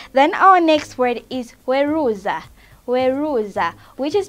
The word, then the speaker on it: weruza: Then our next word is weruza. Weruza, which is spelled as W-E-R-U-Z-A.